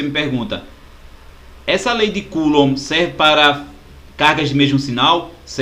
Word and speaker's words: Coulomb: Coulomb, esse B é mudo, né? Coulomb.